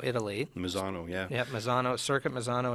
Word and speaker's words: Misano: Mini Cooper and am I saying it right Misano Italy Misano yeah yep Misano circuit Misano and italy one